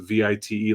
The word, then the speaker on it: Veit: I think it's like Veidt or whatever, but you pronounce it Vite, like kite with a V.